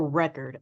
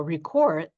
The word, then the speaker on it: record: archives and I will record this information in our database. Are you getting them correct? Are you putting the stress where it belongs for the noun and stress where it belongs for the verb?